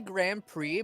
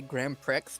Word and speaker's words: Grand Prix: both ways uh it's it's primarily Grand Prix but a lot of people will also just say gr Pricks because of the X I mean that's how